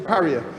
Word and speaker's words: Paria: Paria? Is that correct pronunciation? Paria.